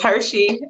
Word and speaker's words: HerShe: Well, it's HerShe, like the chocolate, but it's spelled like her and she.